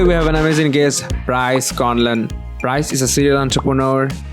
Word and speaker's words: Bryce Conlan: Bryce, did I pronounce it right? Yes. So my name is Bryce Conlan.